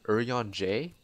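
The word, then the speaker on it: Urianger: you talk to your early injure which I've heard people pronounce his name early on J which I've always called him early injure because that's how the Japanese Japanese voices pronounce his name but if it is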